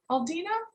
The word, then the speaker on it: Aldina: So I want to hear from, is it Aldina? Aldina, are you there? Yes, I'm here. Yeah, you pronounced it just right.